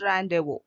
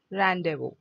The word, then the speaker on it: rendezvous: The Z is silent. This S is silent. Rendezvous.